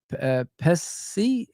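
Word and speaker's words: Pécsi: 27 million, and Pessi, that's how you say his name.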